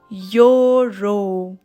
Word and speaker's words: euro: is a tricky one a euro yo row what do you hear the sound of vi yo that is why you y sound you cannot hear the sound of e so that is why